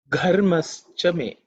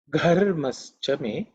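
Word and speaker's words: घर्मश्च मे: It's an aspirated consonant, so you have to say it with a bit of emphasis, with a lot of air. Gha, okay. Gharmaschame.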